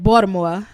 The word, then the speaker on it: Baltimore: that I know that the locals call it Baltimore like what a D and they can tell